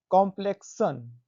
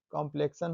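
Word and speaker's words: complexion: rule number तीसरा है किसी शब्द में एक्स के बाद आई ओ एन या या आई ओ यू एस आए तो एक्स का उच्चारण कस से पढ़ते हैं देखिए यहां पर हम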